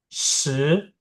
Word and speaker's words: 十: SHI, dia S sama I kan? Jadi bacanya SHE. 十, 十, gitu.